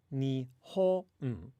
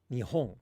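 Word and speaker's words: 日本: And there's like a distinct low, high, low within the word Nihon, right? Nihon ga daisuki.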